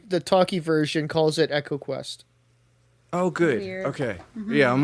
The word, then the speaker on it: EcoQuest: we we didn't mention echo quest which is probably pronounced eco quest but i don't like saying it like that um you don't think that's a great game and the other way around i i instinctively call it ecoquest but yeah me too